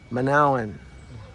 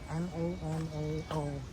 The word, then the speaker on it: Manaoag: Manaoag. Our Lady of Manaoag. Okay. Can you spell that? Manaoag.